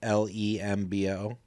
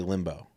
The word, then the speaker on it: Lembo: It's like my buddy has the last name Lembo, and I say Limbo. Lembo. Lembo. So it's lembo, right? Lembo.